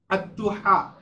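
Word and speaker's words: الضحى: তারপরে দেখো আদ-দুহা, এখানে দেখো বড় হা উচ্চারণ করা হয়েছে, এজন্য আমাদের মুখ গলার মধ্যখান থেকে উচ্চারণ করতে হবে।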